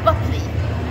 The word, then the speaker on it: Buckley: Yeah, it looks like, right? Yeah. Yeah. No, it's Buckley.